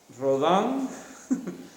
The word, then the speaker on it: Rodin: En castellano sería Rodin, pero en francés suena así que Rodin.